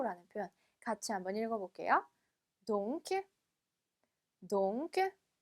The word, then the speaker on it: donc: donc. 자, 마지막 쎄까지 발음해 주셔야 되는 거 잊지 마시고요.